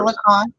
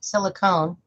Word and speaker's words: silicon: in the VV verse silicon silicon not not silicone fair fair yeah good point I I I'm a little little tipsy and I had mispronounced that my bad silicon